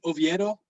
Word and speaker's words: Oviedo: oh by the way that kid you pronounce it oviedo and uh if i'm